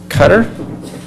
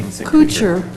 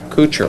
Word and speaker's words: Kuchar: We have Cecilia Cutter. I didn't say that correctly. Could you correct me? Kucher. Kucher. Rhymes with butcher.